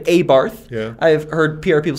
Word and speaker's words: Abarth: an a a b a barth a bart because i've heard it a bart i've heard pr people say abarth yeah i've heard pr